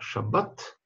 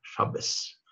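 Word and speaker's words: שבת: Поэтому, например, слово шаббат ашкеназы произносят как шабес.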